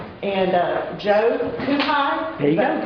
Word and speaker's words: Cuhaj: I want to introduce our three wonderful authors that we have here, starting on the far right, and Joe Cuhaj. There you go. Correct spelling? Yes. Correct pronunciation.